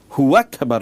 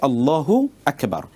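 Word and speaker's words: الله أكبر: আপনি বলেন আল্লাহু আকবার হু আকবার যদি আপনি বলেন তাহলে মনে হচ্ছে যেন হুটা আকবারের সাথে সম্পৃক্ত তখন অর্থের বিকৃতি ঘটে সেজন্যে আমাদেরকে অথবা অর্থই তৈরি হয় না সেজন্য বলতে হবে আল্লাহু আকবার এভাবে ঠিক এমনি ভাবে সূরাতুল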